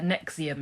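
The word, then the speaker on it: NXIVM: sex oh okay yeah Nexium is how it's pronounced Nexium yeah I only know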